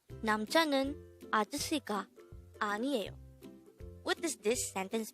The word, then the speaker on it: 아저씨: 아저씨. 아저씨. This is pronounced as a three-syllable word. The first syllable is a, the second syllable is jo, the third syllable is she.